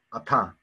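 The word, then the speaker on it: אַתָּה: 아타. 끝에 있는 who 문자는 발음하지 않는다. 뭐라고요? 끝에 있는 who 문자들은 발음하지 않는다. 그래서 아타.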